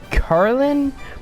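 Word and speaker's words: Carnelian: the beta kindergarten which is really neat and carlin that's how you pronounce it she's like a red gem and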